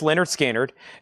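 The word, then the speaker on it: Lynyrd Skynyrd: Leonard Skannard is called pronounced Leonard Skannard.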